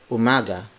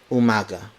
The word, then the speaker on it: umaga: Mogga maganda mo mada word for words magandang Umaga magandang Umaga magandang Umaga Magan dong is the